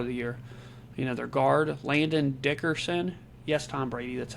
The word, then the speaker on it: Landon Dickerson: Their guard, Landon Dickerson, yes, Tom Brady, that's how you pronounce it, and tackle Lane Johnson.